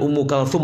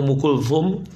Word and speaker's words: Ummu Kulthum: Kemudian Ummu Kalthum atau Ummu Kulthum, perempuan juga, boleh dibaca K atau Ku. Ummu Kalthum atau Ummu Kulthum, cara bacanya begitu.